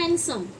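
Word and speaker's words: handsome: ड साइलेंट है। हम लोग कई लोग हम में से हैंडसम पढ़ते हैं। हैंडसम नहीं होता। ये होता है हैंडसम। हैंडसम। तो ये क्या होता है? ये साइलेंट होता है।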